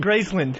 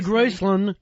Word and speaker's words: Graceland: He does pronounce it Gracland. He That's another first syllable disaster right there. That was wrong the way you said it. No, no, it's it's it's Graceand. Grace. I'm going to Graceland.